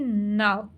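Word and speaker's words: know: कि इसमें silent letters कौन से अब सबसे पहले देखि ना नो अब देखि इसमें क्या साइलेंट है के क्या साइलेंट है के अब हम केनो तो नहीं बोल रहे नो बोल रहे ठीक है तो इसमें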